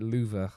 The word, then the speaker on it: Louvre: Anyway, it's pronounced Louvre, I think it is in French.